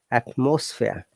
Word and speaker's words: atmosphere: There is a schwa sound. That's atmosphere, not atmosphere. Atmosphere. 1, 2, 3 schwa sound.